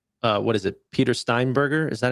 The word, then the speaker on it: Steinberger: Peter Steinberger. Is that how you say his name? I did. I did. Peter I want to get his name right. Steinberger.